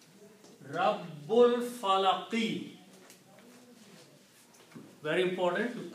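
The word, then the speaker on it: رَبِّ الْفَلَقِ: So when you read them together, you do not pronounce this Alif. Rabbul Falaqi. Very important to correctly pronounce Rabbul Falaqi.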